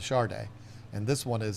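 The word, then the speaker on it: Sade: Yeah, I know she spelled it S-A-D-E, but that's how she spelled it. That's how she pronounced it was Charday.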